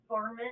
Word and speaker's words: Varmint: Vermin? Vermin? How do you say it? Varmint.